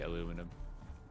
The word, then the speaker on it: aluminum: You are right in how you say it, by the way. Aluminum. Oh, really? Mhm. But I just can't get aluminium out of me. There's not ne at the end. And I say aluminium.